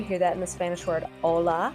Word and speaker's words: hola: the way together V the letter H is silent you hear that miss vanish word hola it's actually spelled H